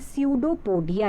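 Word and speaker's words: pseudopodia: parts हम कहते हैं स्यूडो तोड़ दिया यहां पर पीस साइलेंट है सीधे इसको हिंदी में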